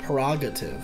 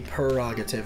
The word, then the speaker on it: prerogative: have no idea actually it might be PR prerogative prerogative yeah it might not be perogative I might just be froggit I think it's